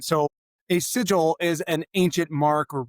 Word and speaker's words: Sigil: of your career between your law firm and Seagull, tell us a little bit more about you.